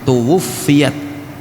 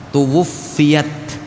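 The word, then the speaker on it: تُوُفِّيَتْ: buku ini berkata tuwuiat Ya ini bacanya tuwuiat Fanya diasydid tuwuffiat khadijatu bintu khuwailidin radhiallahu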